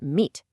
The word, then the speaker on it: meet: You really must clearly pronounce the T in meet. Not me, but meet. You've got to hit the M in from, and you absolutely must pronounce the D in brand.